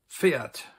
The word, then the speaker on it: Pferd: Das Pferd, a horse.